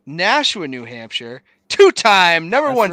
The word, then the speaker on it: Nashua: it went out for a second if i'm pronouncing the city name right nausea new hampshire i'm going to give you credit i'm actually sitting in that city right now it's nashua new hampshire two-time number one city in the